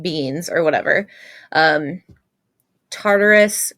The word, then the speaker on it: Tartarus: beans or whatever um Tartarus or tataris I think is how you pronounce it Nyx Erebus and and